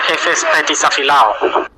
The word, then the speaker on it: Efes Petisafilao: Se pronuncia Efes Petisafilao.